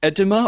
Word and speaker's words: edema: Edema? I don't know what I think is. It's pronounced edema.